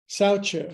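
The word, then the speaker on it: saucha: Now, today's theme is S-A-U-C-H-A. That's pronounced sauca, as in, I got such a good deal for my car.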